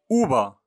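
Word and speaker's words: uva: مثلا اوبا. اوبا العنب. اوبا العنب حرف ب وليس ف كما ننطقه في اللغة الفرنسية، ينطق ب دائما ننطقه ب.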